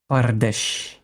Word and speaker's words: Pardes: We start with 4 letters. The letter P, the letter R, the letter D, and the letter S. But we pronounce it Pardesh. So we don't consider the vowels. Mm-hmm. We only consider the consonants.